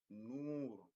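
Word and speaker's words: نور: Noor, Noor. So we kind of stretch the pronunciation like as if we are having two O's, but in Arabic, Noor.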